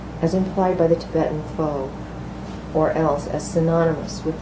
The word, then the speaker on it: pho: The text contains merely the Tibetan word HPHO, pronounced pho, meaning transference of the sum total or aggregate of karmic propensities, composing or bound up with personality and consciousness.